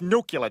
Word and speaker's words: nuclear: a nuclear holocaust nonsense you said nuclear it's new killer dummy the S is silent number 5 mo common mispronunciation mob correct